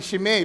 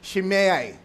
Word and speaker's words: Shimei: Kung bigkasin ng iba yan, Shimei, pero ang tamang bigkas yan, Shimei.